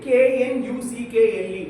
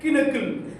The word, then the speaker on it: knuckle: You say K N U C K L E what is that? Kuckle. And my English teacher is like John K silent. It's knuckle.